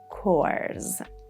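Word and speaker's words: corps: For example, in this word, it is pronounced like course. Coors.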